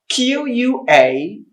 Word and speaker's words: quarantine: The next one after coronavirus is Q-U-A-R-A-N-T-I-N-E. It's pronounced correctly as quarantine. Quarantine. The stress is in the first syllable.